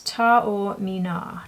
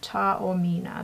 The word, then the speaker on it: Taormina: The name of this, I can see it now, is Tau Mina. Tau Mina. That's how you pronounce it. So, Tau Mina. Tau Mina.